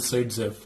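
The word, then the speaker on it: Zaitsev: It is pronounced as Saidzev.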